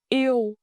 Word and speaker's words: yêu: Let's start with the core word, to love, yêu. In Northern dialect, yêu is pronounced very clear. It's spelled with three letters, e, and u. When you blend them, it sounds like ew.